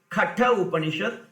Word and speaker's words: Katha Upanishad: Many people, they pronounce it not correctly, so I am giving the pronunciation also properly. Katha Upanishad, which comes in the Katha Shaka, Taitriya Upanishad, which is the you know the story.